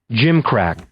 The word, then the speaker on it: gimcrack: So let's real quick listen to a pronunciation and make sure that I'm right. Gimcrack, Gimcrack, Gimcrack.